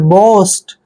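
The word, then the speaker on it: boast: ए एस टी, देखिए बी का उच्चारण हम क्या करते हैं ब, और ओ ए का उच्चारण हम ओ की मात्रा करते हैं, एस को हमने आधा स पढ़ना है और टी को ट पढ़ते हैं।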